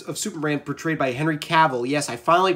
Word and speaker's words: Cavill: Superman portrayed by Henry Cavill yes I finally pronounce his last name right I kept saying Henry Saville but it's Henry Cavill I apologized about Henry